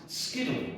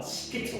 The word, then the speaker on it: Skiddle: And I believe it's pronounced Skiddle, not Skittle.